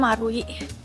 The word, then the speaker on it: Marui: Oke, jadi ini nama gedungnya mengarui 0101. Dia biasanya lambangnya dibacanya Marui.